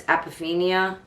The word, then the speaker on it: apophenia: And it's called APOPHENIA. And I think it's pronounced, with my dyslexic detective, I'm going to tell you, I need to see it exactly. I wrote it out phonetically. Apophenia. I believe it's apophenia. Apophenia.